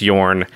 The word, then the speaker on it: Jorn: i clearly was mispronouncing everyone was mispronouncing the name of jorn it's yarn uh the entire episode whoops the deck i built today is jorn god of winter jorn god of winter i